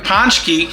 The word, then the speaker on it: pączki: a tradition to give up something and as ponki that's the way it's actually pronounced I had to double check it on